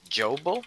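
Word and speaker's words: Jobal: we're talking to her now his name is joe bull how do you spell it well j-o-b-a-l joe sorry got it so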